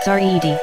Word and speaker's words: Zeid: the latest record from zeid pronounced sarid award-winning composer and earth